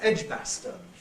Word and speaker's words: Edgbaston: So, with these proper names, there's often a difference between a local and a national pronunciation, which again concerns strong and weak vowels.